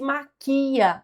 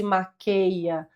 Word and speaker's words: maquia: O ator não se maquia sozinho.